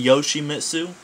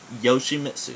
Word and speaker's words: Yoshimitsu: everybody feels the need to like not in yoshimitsu yoshimitsu that's how you say it all right random